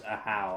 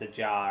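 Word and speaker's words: Ajaw: name is pronounced because I would have never guessed that it was pronounced as a how I would have guessed a jaw or whatever wait isn't that a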